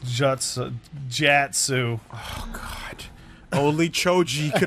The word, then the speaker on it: jutsu: It's pronounced jatsu.